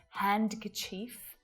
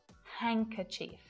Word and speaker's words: handkerchief: But there's no D sound there. We don't hear d, d, d. We don't say Wednesday or handkerchief. It's just Wednesday, handkerchief. No D at all.